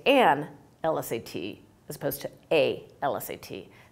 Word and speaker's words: LSAT: is a consonant but you pronounce l as if it has a vowel in front it's it's pronounced e-l-l right so the correct way to do that is to say an LSAT as opposed to a